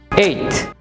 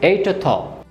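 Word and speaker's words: eighth: ঠ এবং থ, ঠ উচ্চারণ করে সাথে সাথেই থ উচ্চারণের সাথে মিশে যাবে। এইথ, এইথ, এইথ। এরকম হবে না যে এইট থ।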